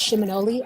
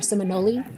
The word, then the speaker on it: Seminole: word or Muskogee word, and it's pronounced Shimonoli or Seminole.